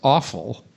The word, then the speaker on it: offal: Trotters are part of the family of meat known as offal. It's spelled O-F-F-A-L, but they really do sound awful.